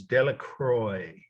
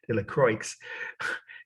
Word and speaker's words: Delacroix: say it in Indiana De La Croix if you're from New Jersey but it's a French name of course D I'll spell it slowly d e l a c r o i x De La Croix is